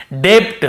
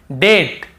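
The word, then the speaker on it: debt: मान लो ये नहीं होता तो हम कैसे पढ़ते? डेप्ट। हम कैसे पढ़ते? ऐसे पढ़ते हम। डे आधा ब और ट। डेप्ट ऐसे पढ़ते। लेकिन क्योंकि हमें बी को नहीं पढ़ना है टी के पहले तो केवल डेट डेट फिर देखिए डाउट डाउट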